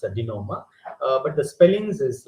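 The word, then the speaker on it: denouement: is the climax in the greek term called dinoma don't pronounce it as a denominator it's a dinoma but the spellings is like this the spelling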